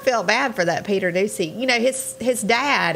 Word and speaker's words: Ducey: me just say that how do you pronounce his last name again ducey that's how they say you ever sit back